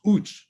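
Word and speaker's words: UECH: events can happen uh abbreviation you ech pronounced ooch so every time there's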